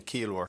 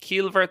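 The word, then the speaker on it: ciallmhar: And you might notice there, it's not Keelver, the pronunciation. So again, the MH, the BH in Munster will always be pronounced like a V.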